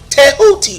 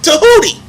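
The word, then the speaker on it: Tehuti: transliteration of his name the Egyptian way of pronouncing his name is tahuti or tooti and you can look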